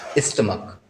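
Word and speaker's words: stomach: अब इसमें हमने एक नोट लिखा है कि जब सी एच का उच्चारण का होता है, कहीं कहीं सी एच को का भी बोला जाता है, तब मात्र एस जुड़ता है और उससे प्लूरल बन जाता है। जैसे स्टमक, स्टमक होता है पेट, जैसे सी एच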